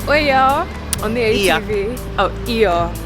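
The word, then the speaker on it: Oia: Oh, Iya. It's not pronounced Oya, it's Iya.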